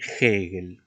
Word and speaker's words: Hegel: Por ejemplo, tenemos el nombre de Hegel, ¿no? Fíjate cómo pronuncio. Pero profesor, la H es muda. Sí, pero esto es un nombre extranjero.